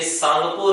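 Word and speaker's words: Tsangpo: और ये जो रिवर थी, ये सांगपो रिवर थी। टी साइलेंट हो जाएगा, सांगपो रिवर थी।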